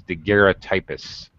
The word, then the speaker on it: daguerreotypists: Okay, again, only a small number of professional photographers ever had any practical experience as daguerreotypists.